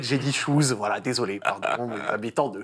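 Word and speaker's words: Chooz: que tu le prononces correctement parce que ça s'écrit pas comme ça au début donc ça sécrissit h o Z j'ai dit chous voilà désolé pardon habitants de Ch dans les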